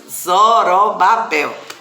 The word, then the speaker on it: Zorobabel: Eita, a pronúncia é Zorobabel, é uma pronúncia difícil, E esse governador, vamos